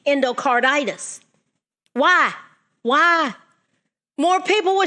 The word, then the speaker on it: endocarditis: B hepatitis C infective endocardis endocarditis always leave out a syllable I have to really work at saying that word endocarditis why why more people